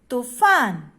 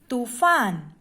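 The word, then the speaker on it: तूफ़ान: श्रुतलेख में नंबर 1 तूफान। देखो, फ के नीचे यहाँ पर नुक्ता लगा हुआ है। इससे जब हम इसका उच्चारण करते हैं तो इसमें आवाज में हल्कापन आता है। तूफान।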